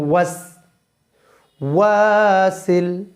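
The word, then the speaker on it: الوسواس: শাররিল ওয়াস ওয়াস মিন শাররিল ওয়াস মিন শাররিল ওয়াস ওয়াসিল মিন শাররিল ওয়াস ওয়াসিল ওয়াস ওয়াসিল ওয়াস ওয়াসিল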